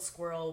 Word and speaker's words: SQIRL: And it's like It's spelled squirrel without a Q. Or U. without the U. Yeah, it's SQIRL.